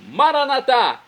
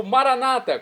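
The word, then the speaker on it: Maranatha: São Paulo e agora eu clamo maranat como dizemos nossos católicos ou Maranata como dizem nossos irmãos separados os evangélicos ou protestantes não importa pronúncia o significado é o mesmo vinde Senhor Jesus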